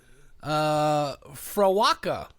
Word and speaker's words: Frewaka: that I've come across an Irish word that is pronounced pretty much exactly how it's spelled in our alphabet.